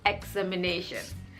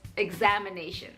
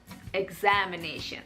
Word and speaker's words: examination: correct english pronunciation is examination the stress is on the second syllable examination i have mentioned uh